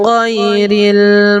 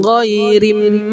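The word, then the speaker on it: غَيْرِ: Alaihim ghairil maghdubi alaihim. Di sini alif lam qamariyah, maka bacanya ghairil bukan ghairim maghdu, tapi ghairil harus melewati alif lam qamariyah dulu.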